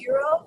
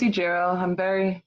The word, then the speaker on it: Ijiro: Well, yes, my name is Ijiro.